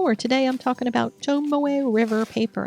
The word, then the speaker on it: Tomoe: Welcome to my YouTube channel, where today I'm talking about Tomoe River paper. And I said, yes, Tomoe, which is how you say that word. I have been saying Tomoe for years, and it's Tomoe.